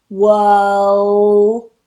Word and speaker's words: world: World. And then you need to release that world for the D sound at the end. World. World. Forget the R and be careful with that O.